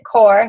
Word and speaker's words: Corps: 22 minute hardcore um it is spelled like corpse but you pronounce it core just in case anyone